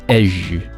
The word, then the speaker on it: hej: Maintenant, pour dire bonjour au Danemark, on dit hej, qui se prononce plus comme un simple hi en anglais.